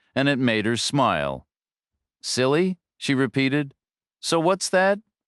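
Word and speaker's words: CILHI: He pronounced it phonetically and it made her smile. Silly, she repeated.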